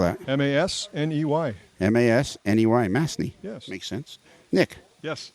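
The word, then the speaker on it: Masney: you say your last name how do you spell that m-a-s-n-e-y m-a-s-n-e-y mastney yes makes sense nick yes can i call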